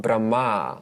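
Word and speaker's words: Brahmā: is why veda is also called brahma long a at the end which means the creator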